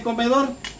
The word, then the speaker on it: comedor: Miren, ¿cuántas sílabas tiene comedor? Tiene 3 sílabas, ¿verdad? Vamos a ubicarla ahí, miren. Comedor, última sílaba, penúltima sílaba y antepenúltima sílaba. Comedor. ¿Dónde lleva la mayor fuerza de voz?